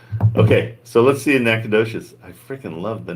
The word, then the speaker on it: Nacogdoches: Nobody ever knows how to say it when they see the name. Oh yeah, because it's Nacogdoches. Yeah, Nacogdoches. Holy crap!